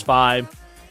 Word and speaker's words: Xros: Yes, I know that it's supposed to be cross 5, but I've grown up with, you know, hearing ×5. So, yes, cross 5 is the proper pronunciation if you go for Japanese, but it's ×5 or cross 5, your choice.